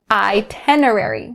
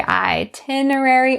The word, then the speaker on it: itinerary: say it this way both ways are correct but choose one that works best for you you can say itinerary or itinerary but you cannot say itinerary itinerary that sounds very odd to native speakers don't do this and